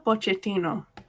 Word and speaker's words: Pochettino: Again, how do you pronounce his name? Mauricio Pochettino. Yep, what she said. So, Pochettino.